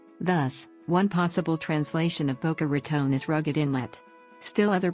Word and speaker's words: Boca Raton: In particular, the raton in Boca Raton is pronounced as /r2n/ instead of /rtn/. The latter is a common mispronunciation by non-natives to the region.